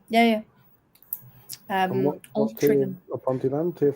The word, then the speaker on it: Ponteland: Is it Ponteland or Ponteland? Ponteland. Yes. Ponteland.